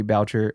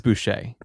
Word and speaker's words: Boucher: he actually hired bobby voucher as the team's hydration specialist okay what is happening okay there's i think i mispronounced his last name i think it is boucher okay that sounds cajun